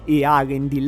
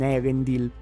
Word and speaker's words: Eärendil: Lo so che è molto da nerd correggere la pronuncia del film, però la pronuncia giusta di questo nome sarebbe Earendil e non Erendil.